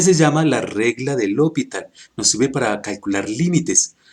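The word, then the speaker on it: L'Hôpital: del hopital lo evitar así como se escribe con acento francés lo puntual de esta manera regla del hopital el a de este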